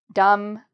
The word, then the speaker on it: dumb: Now, there are some other words that are like the word climb, where they end with an MB. So numb is an example, and dumb is an example. So again, just don't pronounce the B for these words.